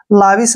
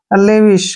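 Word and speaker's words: lavish: हम क्या पढ़ेंगे दोस्तों लाविश नहीं पढ़ना है एल ए का उच्चारण ले हो गया ठीक है वी आई का उच्चारण वी हो गया और एस एच का उच्चारण श करते हैं ऐसे लेविस क्या पढ़ते हैं इसको लेविस लेविस होता है खर्चीला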